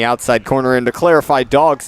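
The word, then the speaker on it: Dawgs: There's a strike on the outside corner, and to clarify, Dogs is spelled D-A-W-G-S. Dogs. So, yeah, like that kind of dogs.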